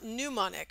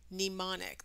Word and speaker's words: mnemonic: is a Latin term hence the strangely silent M at the beginning it's not pneumonic for some reason people pronounce it like pneumonia but there's no u in mnemonic it's just e mnemonic this is these are